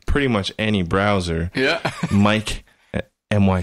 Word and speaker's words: Myc: sure calm I guess then but my name is spelled Mike my C and that is Mike but I just Jimi Hendrix belted jr.